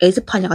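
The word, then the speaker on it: España: 스페인 스페인어로 스페인을 발음하면 에스파니아가 되는 겁니다.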